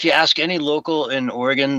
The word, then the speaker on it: Oregon: Uh if you ask any local in Oregon, they'll say it's pronounced like oregano.